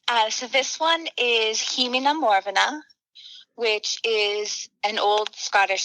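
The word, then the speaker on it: Chì Mi na Mòrbheanna: you told me uh so this one is Hina Morana which is an old Scottish song and and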